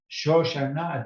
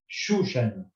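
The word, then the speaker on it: שושנה: a word from Hebrew, then you are allowed to read it as Shoshana and not Shushana.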